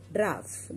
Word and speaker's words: dwarf: लोग, उनको ड्राफ्ट बोलते, DWARF, ड्राफ्ट, W is silent here।